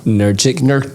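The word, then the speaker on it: Nurkić: Nurkic.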